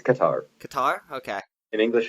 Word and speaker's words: Qatar: It's Qatar. Qatar? Okay. In English, it's pronounced Qatar.